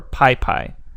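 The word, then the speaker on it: PyPI: So most packages that are worth downloading can be found on what's called the Python Package Index, or PyPy. And that's spelled P-Y-P-I.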